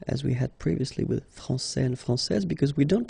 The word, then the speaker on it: français: So like français, for instance. So il est français, okay. And if we follow the main rule, elle est française. Okay, so français, here you get this final S that you don't pronounce, so français, and